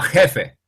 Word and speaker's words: jefe: Como jefe.